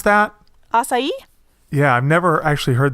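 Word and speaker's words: açaí: written and it's like is that a chi a sigh sí yeah sí is also I think an acceptable pronounce okay but ya know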